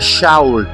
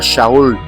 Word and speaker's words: Shaul: Kiania ambalo lilikuwa linatamkwa Shaul. Eh Sauli ni jina la Kiibrania lililokuwa linatamkwa Shaul. Eh sasa nini maana ya Shaul?